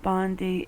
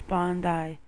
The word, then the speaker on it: Bondi: i was like wait it's not bondy it's bondi hey at least i get